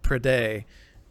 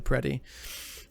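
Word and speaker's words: Predeii: And then you have the Prede. No, the Preti. Is that how you said it? You pronounced it? Preti, that's right.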